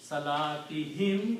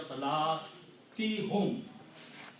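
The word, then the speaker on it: صلاتهم: Now, in order to make tajweed and pronunciation easy, we pronounce this dhamma as a kasra also.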